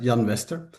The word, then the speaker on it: Jan Wester: a Swedish name, so I can imagine that you pronounce it in the Swedish way, but in Dutch it's just Jan Wester.